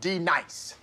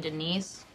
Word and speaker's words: Denise: feel my wrath now D nice do you mean Denise you say your name right right now Denise say right Denise correctly Denise right Denise right